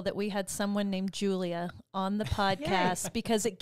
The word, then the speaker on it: Julia: the name always julie it's not julia it's not two syllables it's three like julia roberts julia not julie julia what made john well